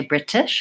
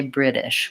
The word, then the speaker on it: British: in other accents so British English they would say British and we would say British with with the flap great question I do